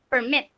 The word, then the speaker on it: permit: it is pronounced as permit, okay? And the accent is on the last syllable.